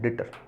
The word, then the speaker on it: debtor: Spelling क्या है, DEBTOR है ना, बी साइलेंट हो जाता है, डेटर।